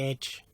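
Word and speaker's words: Ege: As you can see, stars Barbara Windsor, Leslie Phillips, that is Ray Cooney, Julie Edge, E-G-E, I think it's Edge, I think you pronounce it, Joan Sims as well,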